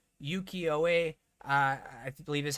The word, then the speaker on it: Ukiyo-e: Okay, last thing here is and I'm going to pronounce this wrong, Ukiyo-e, I believe is how it's pronounced, art style of basic lands.